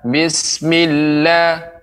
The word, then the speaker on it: bismillah: Ya, begitu juga pengucapan bismillah. Ini ada seperti ditekan. Milla, bismillah. Tidak terlalu cepat. Bismillah. Nah, ini terlalu sedikit apa namanya tasydidnya.